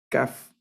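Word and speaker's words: כַּף: letra de este cuadro se llama caf caf el sonido es como el de la k regularmente se representa con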